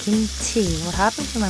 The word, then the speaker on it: kimchi: Not kimchi, it's kimchi. What happened to my pronunciation?